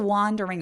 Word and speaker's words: wandering: 자라고 하는 이유가 뭐예요 after wondering around 여러분 이거 wondering이라고 하는데요 궁금해할 때 W 있죠 그 단어 발음이랑 굉장히 비슷해요 그래서 요거는 그냥 문맥상으로 파악할 수밖에 없습니다 after wanding around around 강세는에 있기